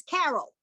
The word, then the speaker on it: Carol: My name is Carol. It's spelled with a C. The C is hard in that sense.